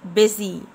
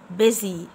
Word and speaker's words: busy: مشغول، busy. هنا حرف الاس بمنطقه زي زد، busy busy.